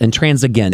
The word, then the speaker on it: intransigent: I think it has a G in the pronunciation, so I think it's Gent, intransigent.